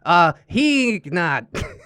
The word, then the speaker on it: Heeknot: Heeknot is a typo of Geekbot that happened a long time ago, so the K isn't silent, but it isn't overpronounced. Oh, Heeknot.